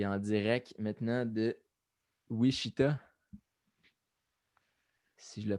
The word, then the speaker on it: Wichita: Ah oui, oui, Wichita, hein, c'est ça? Ouais, En, an- c'est la place. en anglais, on dit ça comment? Wichita, même Ah, affaire.